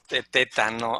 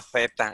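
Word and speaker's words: θῆτα: siempre la pronunciamos teta, no zeta.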